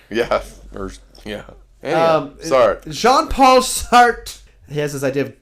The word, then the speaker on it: Jean-Paul Sartre: Jean-Paul Sartre. Jean-Paul Sartre. Not John.